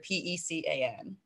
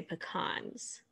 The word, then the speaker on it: pecan: how you pronounce it so i pronounce it two ways and it depends on the context i say pecan pie but when it's just the nut i say pecans on the exact same